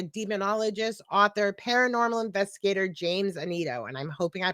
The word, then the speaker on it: Annitto: Tonight we're starting our season off great with a demonologist, author, paranormal investigator, James Anito. and I'm hoping I pronounce that right.